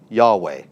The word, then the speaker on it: Yahweh: is God's personal name, Yahweh. That's how we pronounce it. That's how we think it's pronounced.